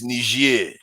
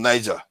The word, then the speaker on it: Niger: It's just the pronunciation. It's Niger and Niger. Okay. One is French, one is English.